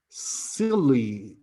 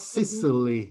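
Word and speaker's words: Scilly: okay the aisles of silly sisly okay it's not sicily okay there is a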